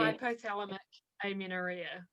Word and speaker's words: hypothalamic amenorrhea: Before I ask you my quick questions to get to know you, how do you pronounce that word for the period? Hypothalamic amenorrhea.